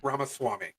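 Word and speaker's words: Ramaswamy: ramw R Swami V it's pronounced ramas Swami I'm sorry I [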